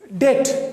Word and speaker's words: debt: When B before T, in some places it is silent. Like in the word debt, when B comes before T, then this B is silent.